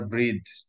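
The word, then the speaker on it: breathe: কোথায় যেন আমরা ব্রেথ আর ব্রিদ, শিখিয়েছিলাম গতকালকেই সিনোনিমের মধ্যে মনে হয়। এই ব্রেথ হচ্ছে ই বাদ দিলে, ব্রেথ হচ্ছে নিঃশ্বাস নাউন, আর লাস্টে একটা ই দিলে সেটা উচ্চারণ হয়ে যায় ব্রিদ, মানে হয়ে যায় নিঃশ্বাস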